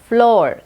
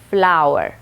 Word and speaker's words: flour: बहुत सारे लोग इसको फ्लोर कहते हैं, ये गलत है। सही प्रोनाउंसिएशन है फ्लावर। फूल, उस वर्ड को हम कैसे प्रोनाउंस करते हैं, वैसे ही सेम प्रोनाउंसिएशन है इस वर्ड का भी, फ्लावर।